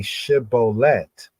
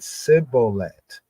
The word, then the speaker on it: shibboleth: So they said to him, say shibboleth. And he said sibboleth, for he could not frame it right. Then they took. Well, the full is because he could not pronounce the word correctly.